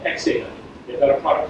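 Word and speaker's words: 0xdata: It's a company called Xdata. They've got a product called H2O. Oxdata. Oxdata. There's debate even in the company if the O is pronounced.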